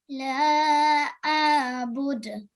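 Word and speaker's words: أَعْبُدُ: لا أعبد. Yeah, a'budu. So we have to make sure ayn is pronounced from our throat.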